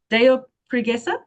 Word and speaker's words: Deu Preguiça: So, we've been practicing how to say this in in Portuguese. Is this Deopesa? Is that right?